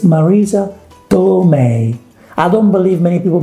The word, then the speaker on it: Marisa Tomei: actress that everybody loves we all do right marisa tommy marisa tomai marisa tommy whatever you say it's marisa tomei i don't believe many people make the mistake